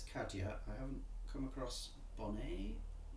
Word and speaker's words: Kadhja: a look okay okay looks like NPR got something uh pronounced kadya okay oh thank you very much all right I can monitor the chat I suppose okay here we go right yeah it's kadia I haven't come across